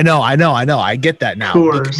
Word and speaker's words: Coors: Coors. It's like core. It's like you work the core of your body out.